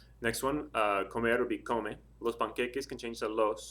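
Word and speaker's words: cómelos: Next one, comer would be come. Los panqueques can change to los. So we have comelos, comelos, accent over the O.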